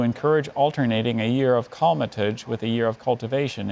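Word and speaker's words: colmatage: hi ananya hello your word is cometage calmatij may have all the information yes cometage has no alternate pronunciation that I can see it's just cometage it's a noun from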